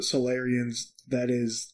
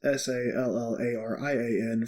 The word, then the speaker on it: Solarian: And talking about the Solarians, it's spelled Solarian, so the root is solar, sun, not like the Solarians, Sallarian from Mass Effect.